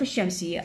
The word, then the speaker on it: الشمس: مثل عندي شوفان، اشرح الفظ: الشمس، الشمس، باعوا هذا اللام ما لفظت.